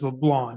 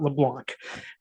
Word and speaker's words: Leblanc: made sure that we didn't pronounce the C in Leblon as was Leblon not LeBlanc so uh uh certainly